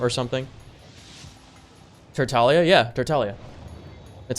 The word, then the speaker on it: Tartaglia: like encourage them or something for Italia yeah tertalia that's how you pronounce it it's more like it's more like is an Italian name not tartaglia you know child I don't understand why I